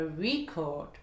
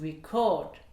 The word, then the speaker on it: record: Donc l'enregistrement sera sur la première voyelle. A record, a record. Et le verbe, l'action d'enregistrer sera sur la deuxième voyelle. To record, to record. A record, to record.